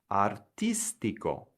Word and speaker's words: artístico: And what you'll notice is with all of these IC near perfect cognates, the accent goes on the syllable just before the ICO. So here are some more examples. Artistic becomes artístico.